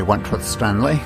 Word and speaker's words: Wentworth-Stanley: this is Wentworth Stanley I'm the fellow who has a hyphen in my name The Hyphen is silent but I am anything